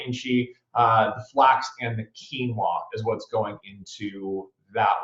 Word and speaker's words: quinoa: again she flax quinoa which for years I pronounced Kanoa I'm not gonna throw myself under that bus quinoa and then the two